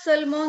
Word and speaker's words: seulement: S-E-U-L, seul, M-E-N-T, ment. Like how we do it in comment.